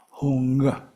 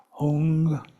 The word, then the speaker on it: Hong: If you really wanted to visualize how to spell that in English, H-O-O-N-G might not be bad. Hong. And there's what we call a glottal stop at the end. Hong.